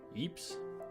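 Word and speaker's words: Ypres: over this pronunciation before Eeps is this actually some of that silent Eeps is that pronounced Eeps or not was a key strategic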